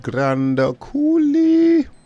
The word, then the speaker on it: Grand Coulee: What is it you pronounce it? Grand Coulee.